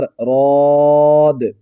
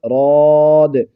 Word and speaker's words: بِرَادِّ: فُضِّلُوا بِرَادِّ رِزْقِهِمْ، اور اس کا ہجے بھی کر لیجئے، بازر بھی، را الف دال مد زبر راد، اس طرح ہجے کریں